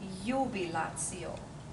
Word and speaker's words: jubilatio: But we would not say jubilatio, we would say jubilatio. Again, Jubilatio. And another thing in that word is the T-I with the O. Together they are tio, not tio. So jubilatio. Jubilatio.